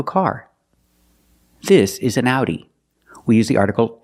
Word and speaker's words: Audi: we pronounce it differently we pronounce the Au like Ow like in words out now and how again the sound is ow so this word is pronounced Audi it's the name of